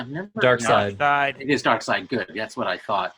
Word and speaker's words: Darkseid: How do you pronounce? Yeah, I've never. Darkseid. It is Darkseid.